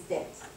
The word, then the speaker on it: debt: By the way, debt, even though it's written like this, English is a very funny language. B does not get pronounced.